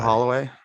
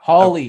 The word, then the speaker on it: Hawley: Holloway. Noah Hawley. Yeah. So Oh, I'm probably saying it wrong. you are Holloway. Holly. It's Hawley. Jam- Hawley.